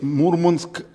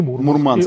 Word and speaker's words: Мурманск: И Мурманск. И Мурманск. Мурманск. И Мурманск. Они говорят, да. Мурманск. Мурманск, да. Мурманск. Да, так же, как компас и компас, да, свои ударения у моряков.